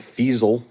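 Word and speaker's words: Feasel: Bubba Paris, Lorenzo White, Dennis Smith, Pat Ley, Robert, Mark Robinson, Grant Fasel, Rhymes with Weasel, Eddie Murray, Jim Covert,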